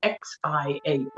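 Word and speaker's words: 箫: David did a very good job pronouncing it, Xiao, Xiao.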